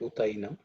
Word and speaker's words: utainam: Uta enam, the a at the end of the and a becomes I. So that's how you get utainam.